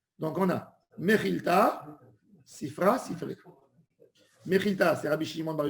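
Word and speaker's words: Sifre: Les Ashkénazes, ils prononcent mal. Ils disent Sifri. C'est une erreur. Il y a Sifra. Sifra, c'est le livre, le Sefer. Sifré, c'est au pluriel en araméen.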